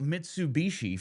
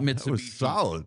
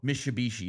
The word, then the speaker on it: Mitsubishi: Yeah, that's I just I have to really think about Mitsubishi. Mishabishi. No, can't say it like that. They are a sponsor. Need to say it correctly.